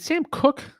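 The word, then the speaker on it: Sam Koch: Longtime Ravens punter, is it Sam Cook? Is that how you pronounce it?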